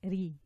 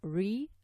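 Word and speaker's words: رِ: So ri, it will sound like this. Ri, like this. Again, not re. Re is wrong. That's the English way of saying it.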